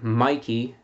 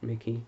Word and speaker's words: Mikey: I'm going to pronounce the name Mikey. Mikey. Not Mickey. Mikey.